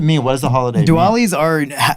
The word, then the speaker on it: Diwali: we celebrate diwali you said it right yeah diwali so can you tell us what it means